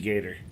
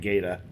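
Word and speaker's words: Gaeta: a ramp for Beansy Gator, or Big Gata, I think is how you say his last name.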